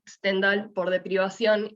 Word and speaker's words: Stendhal: esto es un síndrome no se pronuncia stent stendhal por de privación y